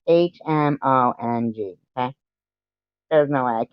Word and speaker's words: Hmong: It's Hmong. Okay? There's no way I can't even pronounce these things.